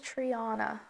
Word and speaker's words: Triana: No, it says Triana. Triana. Spell that. Triana. But it's actually Spanish from Spain. There's a resort town in Sevilla, Spain called Triana.